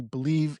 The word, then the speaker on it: BLEAV: because it sounds like believe and you'd spell it like that, but it's not spelled that way.